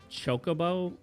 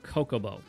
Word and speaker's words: Chocobo: for some reason would mistakenly pronounce Chocoo as Coco.